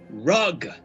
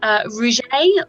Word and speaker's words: Rougerie: good they are hitting rug human wizards sorry something in my smoke and hello and my neck is rug and it's actually pronounced Rougerie or and don't call me